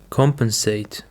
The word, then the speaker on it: compensate: Compensate. The stress is on the first syllable.